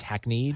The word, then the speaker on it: hackneyed: It's spelled hackneyed, but it's hackneyed.